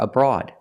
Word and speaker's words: abroad: Pronunciation, the stress is on the second syllable, abroad. And it sounds like broad. It's like Broadway and broadcast and broaden. Same sound. It's the aw sound like ball and call. Broad. The first syllable is relaxed, so it's a short sound, like cup and up.